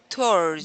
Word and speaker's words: towards: it would create a W sound, but you do not have to put it there.